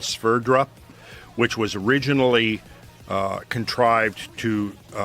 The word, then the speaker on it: Sverdrup: It's SVERDRUP, Sverdrup.